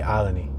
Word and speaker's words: Olney: right now we're on aleny on alen a in the alen neighborhood it's spelled only o l n e y but most locals including myself just say alany we have the 5,500